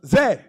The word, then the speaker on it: Zay: Zay. I'm sorry, I think it's pronounced Zay.